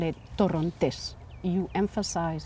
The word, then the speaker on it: Torrontés: This wine, we say in Spanish, we call it Torrontés. You emphasize, you put the stress on the last syllable, Torrontés.